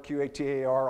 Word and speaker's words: Qatar: Doha, Qatar, pronounced Qatar, Q-A-T-A-R, I'll say Qatar, that's one pronunciation.